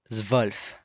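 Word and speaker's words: zwölf: 12th is going to be zulf. Keep in mind it would be an umlout here on the O.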